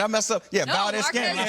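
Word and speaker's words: Valdes-Scantling: Yeah, no, Valdez Scantling.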